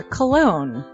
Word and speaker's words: Colon: It is a self-published book by Christopher Cologne. Chris Cologne? Smells good to me. But look at her. That broke that fucking cold little exterior. He's like, hee. But it is spelled Colon. Him punny.